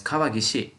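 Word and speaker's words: 川岸: We also have the Kaigan kanji, gan kanji, but it's kawagishi. Same kanji pronounced gishi, which is like this.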